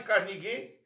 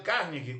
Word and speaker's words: Carnegie: D Carnig ou ou Del Carneg, como gostam de dizer os que pronunciam melhor o inglês, nasceu em Maryville em